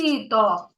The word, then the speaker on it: літо: наголошеним літом бачиш наголос Я вже поставила літо на перший склад давай другу гру ти